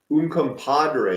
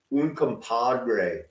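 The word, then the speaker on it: Uncompahgre: I lived in Montrose un Compadre isn't that a funny way to pronounce that that GH is always funny un Compadre this is where you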